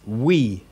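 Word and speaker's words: υι: got ooh and then this one is we we as in French oui oui mon tue or as in sweet okay we then you've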